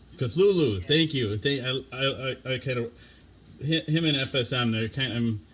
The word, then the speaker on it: Cthulhu: Chutlalab, right? Or I could never pronounce it. Cthulhu. Cthulhu.